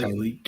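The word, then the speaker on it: Tyleik: I butchered his name. Tyreek. Yeah, it's Tyreek.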